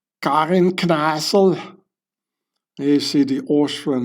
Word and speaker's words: Kneissl: The Austrians pronounce it like this, Karin Kneissl.